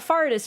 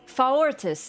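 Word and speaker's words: Faurtis: They were like, it's not Fartis, Rav. It's Faortis. And I'm like... Come on, I'm not gonna say Faortis every single time like some kind of fucking nerd. He doesn't deserve to have his name pronounced properly. He simply doesn't. What's he need that extra syllable for?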